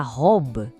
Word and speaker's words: robe: O R francês, ele não é na ponta da língua, ele vem lá de trás, da garganta. É como se a gente fosse arranhar um pouquinho a garganta.